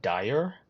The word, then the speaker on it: Daher: called The Quest Kodiak now it's called the deha I don't know if that's how you say it I've had a look at some of the videos online they call it Dyer which is definitely not